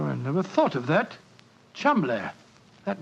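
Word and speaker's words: Cholmondeley: is in no way pronounced the way it is spelled. Oh, Joe, I never thought of that. Chuml.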